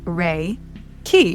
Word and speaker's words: Reiki: So firstderee raiki training raiki pronounced re key ki is a common Japanese word which Dr.